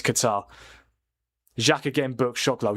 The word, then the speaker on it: Qatar: I pronounce Qatar Kota. Do you? Yeah, that's just not how you say it, mate. It's Qatar.